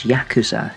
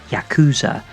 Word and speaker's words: Yakuza: The like a dragon games are known as Yakuza in the west or Yakuza if you find stressing the first syllable uncomfortable.